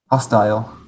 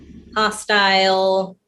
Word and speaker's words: hostile: it david hostile hostile in the states this one might be like 50 50 though i do hear hostile but i would say hostile it's like american with the condensate ile sound isn't it condensing it down in some words like we pronounce it in tile and file so i don't know